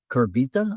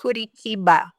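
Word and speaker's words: Curitiba: at a conference in Kurbita, I think. Is that is that how it's pronounced? Kurichiba. Huh? Say Kurichi. Kuri Chiba. Oh, I totally butchered that.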